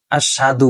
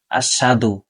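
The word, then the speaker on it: أشهد: রাসুলুহ এই কালেমার ভিতরে অনেকে ভুল করে থাকে সেটি হলো যে আশাদু বলে আশাদু আশাদু অনেকে দেখা যায় যখন আযান দেওয়া হয় অথবা একামত যখন দেওয়া হয় তখন এই শব্দটা সেখানে উচ্চারণ হয় তখন এইভাবে উচ্চারণ করে আশহাদু সাধু বলা যাবে না আশহাদু হাদু আশহাদু আল্লাহ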